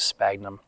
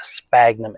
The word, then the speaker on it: sphagnum: I call it sphagnum, but it's spelled S-P-H-A-G-U-N-M. Basically, it should be called sphagnum, but I think most people, at least most people that I talk to, call it sphagnum with a hard P.